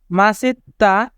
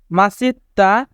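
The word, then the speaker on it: 멋있다: ব্যক্তিত্ব ইয়া পুদা ইয়া পুদা ইয়াপ্পুদা মানে সুন্দরী মাসিত্তা মাসিত্তা মাসিত্তা মানে হ্যান্ডসাম এখানে বাচ্চিমের পরে ইয়ং থাকার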